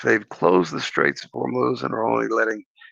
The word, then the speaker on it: Hormuz: It's Hormuz.